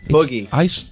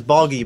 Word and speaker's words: Boogie: It's double O. Double O-G-I-E. Boogie. It's yeah, double O. Okay, yeah, all right. Yeah, you had it as Boggy before.